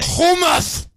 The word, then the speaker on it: hummus: Hebrew where in America here so I'll say hummus how many I got you're not pronouncing comments right what are you supposed to say home us come on oh yeah sir I think it